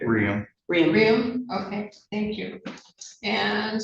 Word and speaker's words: Raymond: And I seem to recall that your name, I just realized, but your pronunciation is different than Raymond. Is that correct? Riam.